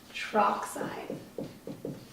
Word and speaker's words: tetroxide: That's when that double vowel rule comes into play here. So not tetra, whoops, spell it right, but tetroxide. Okay.